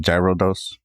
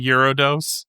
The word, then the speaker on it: Gyarados: Why would you even just I like to pronounce it gyrodose. Quiet you. It's actually eurodos.